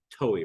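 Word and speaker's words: towhee: Mexico that this white throated toe is um toey right that's how it's pronounced they ever asked me about not pronouncing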